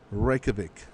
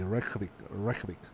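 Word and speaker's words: Reykjavík: I don't think you pronounce the J. Reykjavik.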